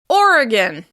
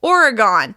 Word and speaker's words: Oregon: Moving on, Oregon. Oregon. Oregon is stressed on the first syllable.